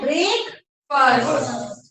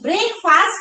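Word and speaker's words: breakfast: आपको यहाँ पे बोलना है ब्रेक फर्स्ट, बोलो ब्रेक फर्स्ट, ब्रेक फास्ट नहीं कहना है, क्या कहना है, ब्रेक फर्स्ट, हाँ प्रोनाउंसिएशन इज ब्रेक फर्स्ट, ठीक है।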